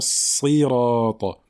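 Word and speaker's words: صراط: Mais il faut faire l'effort de bien prononcer cette kasra, même sur la lettre emphatique.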